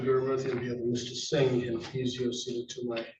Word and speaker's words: Singh: name would be Koluaren, last name would be Singh. Singh, I'm sorry for that. Parents counsel? Joanie Carey for the people. Thank you attorney Mercy on behalf of Mr. Singh and he's seated to my right as well.